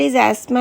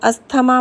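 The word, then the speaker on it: asthma: What इज़ एस्मा and neuralgia? एस्मा इज़ a disease जिसको हिंदी में हम अस्थमा बोलते हैं, बट it's pronunciation in English इज़ एस्मा.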